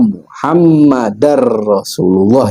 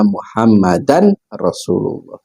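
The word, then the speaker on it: محمدا رسول الله: Jadi wa anna muhammadar rasulullah yang benar. Jangan dibaca wa ashadu anna muhammadan rasulullah.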